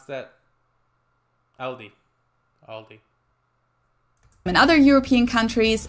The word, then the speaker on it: Aldi: In English, people usually pronounce this Aldi. I think I've also heard Aldi before, but I think most people say Aldi.